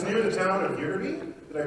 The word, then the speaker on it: Ytterby: It's near the town of Ytterby. Did I pronounce that correctly? Yeah, Ytterby.